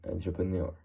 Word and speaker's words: entrepreneur: So no significant difference between the meaning, but in the French pronunciation it sounds a little bit less harsh, like entrepreneur. Well, it's also not so different in pronunciation.